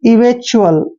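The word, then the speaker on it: eventual: न पढ़ते हैं और टी यू एल को च्यूअल पढ़ेंगे, च्यूअल, ऐसे इवेंचुअल।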